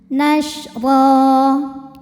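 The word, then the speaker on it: نَشْرًا: Huruf ra dibaca secara tafkhim karena harokatnya fathah tanwin. Cara bacanya ditebalkan. Ra, ra. Nashra. Ra jika berhenti hukumnya mad iwad karena ada baris tanwin fathah yang diberhentikan. Cara bacanya baris 2-nya ini jadi 1 jadi fathah dan panjangin 2 harokat. Nashra.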